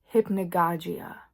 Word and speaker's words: hypnagogia: Here's another one: when you're falling asleep, there's this thing called hypnagogia. I think I'm saying that right. This is editing Amber here. It's hypnagogia.